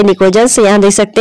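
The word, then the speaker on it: pnictogens: निकोजेंस यहाँ देख सकते हैं, निकोजेंस की जो स्पेलिंग है वो पी से स्टार्ट है, पी साइलेंट है, इसे बोलते निकोजेंस है, लिखा इसको पी से जाता है।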